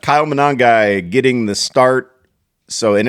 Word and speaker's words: Monangai: Manungai. Manangai. Yep. Manangai. You have to say it like that. Kyle Monangai getting the start.